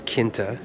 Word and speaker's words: Quinta: It's not quinta, it's kinta.